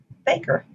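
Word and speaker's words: FAKIR: five letters for example the f-a-k-i-r waypoint would be pronounced faker the proposed arrival flight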